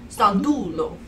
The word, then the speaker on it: Sandullo: See, I was trying to pronounce it like the Spanish double L. Right. Sandullo. Yeah. I can't roll my tongue. I just said. It's Italian. Okay. So it's actually Sandullo.